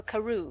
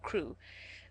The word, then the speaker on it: Crewe: Madame Pascal pronounced it as if it were Karu instead of crew.